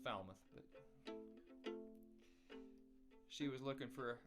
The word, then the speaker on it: Falmouth: It's pronounced Falmouth, but she was looking for a smaller fiddle, I guess.